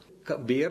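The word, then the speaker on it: bear: നമ്മള് അതിനെ നമ്മൾ ആൾക്കാര് ബിയർ എന്നാണ് പറയുക ശരിക്കും കരടിനെ ബെയർ എന്നും കുടിക്കുന്ന സംഗതിയെ ബിയർ എന്നും പറയണം അതുപോലെതന്നെ കണ്ണുനീരിനെ ടിയർ എന്നും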